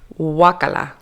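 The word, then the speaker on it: guácala: primarily by Mexican Spanish speakers today's word is wacala wakala I don't think I've ever heard that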